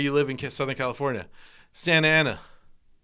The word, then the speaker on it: Santa Ana: Like the Southern California thing, where anything that goes NT, they don't pronounce the T. Yeah. Like where do you live in Southern California? Santa Ana.